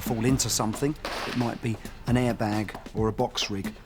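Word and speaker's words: Bidean: mountains in Glen bidan or Bean as it's pronounced is um the highest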